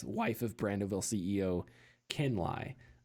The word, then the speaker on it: Lai: of Brandoville CEO, Ken Lai. I mispronounced it and said Lay, but we have a little anecdote as to why that is.